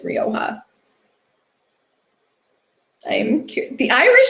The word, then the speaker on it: Rioja: Um all right, have I ever heard Rioja pronounced like Riacha? Riacha? No. No. I have not heard it pronounced like that. I've only heard it pronounced as Rioja.